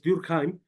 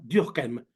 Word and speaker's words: Durkheim: dicen algunos de hecho el apellido originario es alemán es durkheim pero él era francés y él pronunciaba diem o sea a la francesa los franceses tienden A